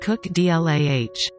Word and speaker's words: Kukla: the calf: Tashuka, Katnanu, Kukla, Kusti, and Lekwa. After a week of voting, the results were in. Meet Kukla, pronounced Cook Dlah.